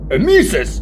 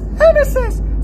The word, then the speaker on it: emesis: what I don't know that word you know Amis it's right here Amis I I've never heard